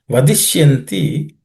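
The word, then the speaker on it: वदिष्यन्ति: No aspirated consonants. Just it's vadish. The ish is cerebral ish. Vadishyanti. You can make it.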